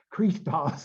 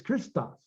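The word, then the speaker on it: Χριστός: We don't say Christos, it's Christos, because it's a short iota.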